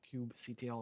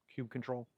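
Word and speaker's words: kubectl: Kub kit apply or cubectl apply if you pronounce it that way cube control by any other name or if you did a helm installer upgrade.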